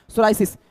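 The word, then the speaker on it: psoriasis: सोरायसिस। इसको क्या पढ़ेंगे? इसको पढ़ेंगे सोरायस। पी यहां पर साइलेंट होगा। ठीक है? पी यहां पर साइलेंट है। इसको पढ़ेंगे सोरायस।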